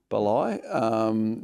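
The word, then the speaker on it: Bali: I'm heading to Balai. Is that how you pronounce it? B-A-L-I? Yeah. Balai.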